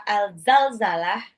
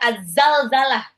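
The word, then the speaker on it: الزلزلة: lalu terkait dengan Surah alzalzalah eh jadi bacanya Sebenarnya azzalzalah dia alif lam syamsiah maksudnya bukan Alif Lam Qariah Bukan alzalzalah tapi azzalzalah pakai depannya eh apa zainnya Double ya terkait surah azzalzalah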